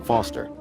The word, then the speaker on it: Foster: pickle so it does i'm foster i'll remember that easy because your name rhymes with fossil and you're old thanks kid